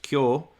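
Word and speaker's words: 今: Yeah, and even what I mentioned today, like the character for Ima is sometimes pronounced Kyo, and it's the way that you know that, and just to try to help you understand.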